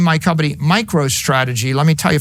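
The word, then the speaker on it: MicroStrategy: Now, right now I name my company Micro Strategy. Let me tell you, for 30 years, half our customers mispronounced it. Micro Strategies.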